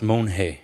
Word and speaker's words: Monge: no chairman so mister mange and I apologize earlier for mispronouncing your name Monge is that correct thank you for asking sir it's hard it's Mon hey Mon hey okay well thank thank